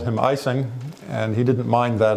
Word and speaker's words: Ising: One question has always been, how do you pronounce his name? And the answer is any way you want, really. When he was a German, he was Ising.